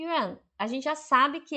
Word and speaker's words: 院: Então, Yuan, Y-I, Yuan, Y-U-A-N, Yuan, hospital.